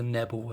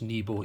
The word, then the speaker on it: Nebo: always call this the nebu until someone pointed out that that's not quite what what it's supposed to be pronounced nebo even though there's only one e i don't understand that